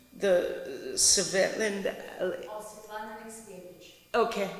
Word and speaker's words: Svetlana Alexievich: But just reading 2 reviews, this is from pronounce her name, the Svetlana. Svetlana Alexievich. Okay, say it again. Svetlana Alexievich.